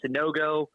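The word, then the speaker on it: Sanogo: got it Brad so I would say I butchered his name probably 15 times on the morning Rush this morning uh sunogo uh am I saying that correct now that's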